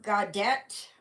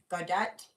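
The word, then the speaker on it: Gaudete: uh hello Jimmy or godette I think that that's how it's pronounced godat in Latin Sunday so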